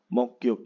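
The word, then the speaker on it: 목욕: ya mokyukel Hada ya Tapi bacanya adalah mokyuk mogyuk jadi guknya ya naik gandeng dengan yo mogyuk terus ada hanguko hanguko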